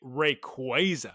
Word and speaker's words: Rayquaza: Well, actually, the correct answer to your question, Geese Peep, is actually Rayquaza, but you're not going to catch me.